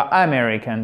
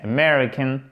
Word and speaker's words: American: En American English, American accent tonique sur la seconde syllabe. C'est pas American, c'est American. On l'entend presque pas, hein, cette première syllabe.